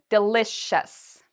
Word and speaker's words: delicious: Do we have a SH sound in here? We do. We say delicious. So we're pronouncing it like this, delicious.